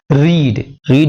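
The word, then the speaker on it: read: गैस याद कर लीजिएगा सेकंड और थर्ड फॉर्म जो होती है तो स्पेलिंग से रहती है लेकिन प्रोनाउंस चेंज होती है रेड रेड रीडिंग रीड्स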